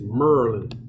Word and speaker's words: Maryland: a shooting today in maryland i got to say it like y'all y'all gotta say yeah it's merlin i gotta say like